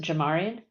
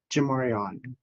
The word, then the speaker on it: Jamarion: Do you pronounce it Jamarian? Jamarion. Jamarion.